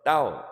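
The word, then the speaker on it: 道: 말씀 언자를 쓰는게 아니고 길도자를 길도 그래서 따오 따오라고 이렇게 발음하는데 어 그래서 그 태체의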